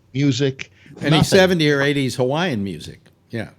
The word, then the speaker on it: Hawaii: Uh, uh, uh, I was listening to Jack Bishop one night and he referred to it as havi.